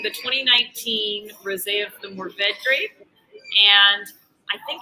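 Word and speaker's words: Mourvèdre: Yeah, it kind of depends on where you are. It's Mourvedre is what I go with, but I hear a lot of Mourvedre, and both ways are correct.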